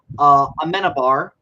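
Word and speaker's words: Amenábar: We're still doing the films of Alejandro Amenabar. Hope I pronounced that Yes.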